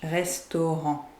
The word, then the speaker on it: restaurant: So the last T of restaurant in English, restaurant en français, the T is silent in French, restaurant.